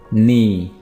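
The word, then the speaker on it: knee: गुर्दा throat throat गला नी नी घुटना यहां पर भी आपने के को प्रोनाउंस नहीं करना है तो यह वर्ड होगा नी लिप लिप h नरी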